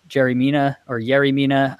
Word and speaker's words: Yerry Mina: It's spelled with a Y, but I've heard in Colombia you pronounce it as a J.